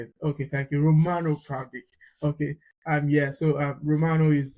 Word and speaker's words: Pravdic: Pradesh is the am I right with the pronunciation? Pradesh, is it? Romano Pravdic.